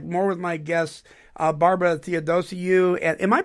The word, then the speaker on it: Theodosiou: When we come back, more with my guest, Barbara Theodosiou. And am I pronouncing that correct?